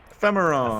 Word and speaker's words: Ephemeron: How do you pronounce that again? Ephemeron.